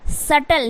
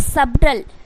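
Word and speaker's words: subtle: तरीके से क्या है एस यू बी टी एल ई तो क्या हो जाएगा सटल ना के सबटल सबटल नहीं होगा गाइ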